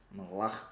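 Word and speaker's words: מלאך: Anjo na língua hebraica, que é a língua do Antigo Testamento, onde a Bíblia foi escrita, é malach. Isso mesmo, malach é assim que se pronuncia.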